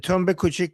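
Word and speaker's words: Tunb-e Kuchak: Uh Tunb e Kuchak and Tunb e Bozorg.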